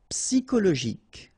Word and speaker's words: psychologique: Okay, so ic, and then Y is pronounced like I, psy, and then it's an exception here because normally we should pronounce it chaud, okay, but then we pronounce it co.